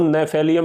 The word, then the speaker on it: Gnaphalium: औषधि का चित्र है इसमें जी साइलेंट रहता है इसकी शुरुआत नाम की जी से होती है लेकिन जी साइलेंट रहता है इसको हम नेफेली अम ही बोलते हैं तो दोस्तों आइए कर